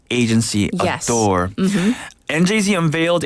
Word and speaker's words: NJZ: I did my research so it's njz not njz yes and announced its